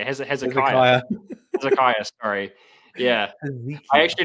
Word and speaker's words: Hezekiah: Hezekiah, sorry.